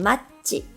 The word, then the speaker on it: マッチ: For ch sound in machi, we can either add an extra c or add a t, just like the English spelling.